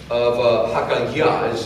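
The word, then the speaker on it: Hacaliah: He was the son of Hakaliah, is how you say his name.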